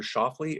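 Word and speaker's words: Schauffele: on on social media this morning apparently xander schaffly am i pronouncing his name correctly you are yeah apparently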